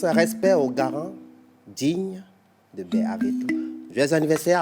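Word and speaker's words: Bè-Avéto: Mais pour la procédure du jour, nous avons choisi le quartier Bé Aveto. Bé Aveto. Bé Aveto s'écrit B, accent grave, tiret, A, V, E, accent aigu, T, O.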